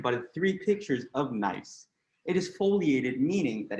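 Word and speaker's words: gneiss: the batting order is nice although it has a g at the beginning you only say it like nice like nice so it is a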